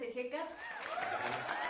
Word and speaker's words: Ehecatl: Y bueno, la H se pronuncia como una J, como una G, pero bueno, Ejecat, pues ya para que